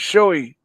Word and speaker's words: Shoei: up array or something all right no it's showy uh it's it's a comparable company arai and